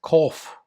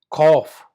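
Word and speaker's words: Qof: The next one uh is cough. Cough. Like you're coughing. C O U C H or something like G H. Coughing. Coughing. Cough.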